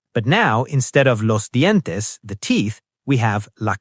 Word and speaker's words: dientes: Me lavo los dientes.